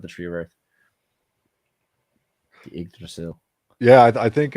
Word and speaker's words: Yggdrasil: Yggdrasil? Not Yggdrasil. Yggdrasil.